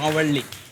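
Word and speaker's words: Mavalli: आपका बहुत ही सर इसका इसका उच्चारण कैसे होता है मुझे बता मावल्ली मावल्ली बहुत ही फेमस जी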